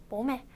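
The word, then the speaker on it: bố mẹ: 모매. 그렇기 때문에 아빠는 보, 엄마는 매 이렇게 외우면 쉽겠죠? 다시 한번 발음 읽어볼까요?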